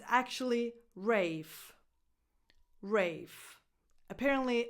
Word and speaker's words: Ralph: the same spelling, but there's this English version where you pronounce it Rafe. So he pronounces his own name Rafe, but no one outside his family pronounces it that way.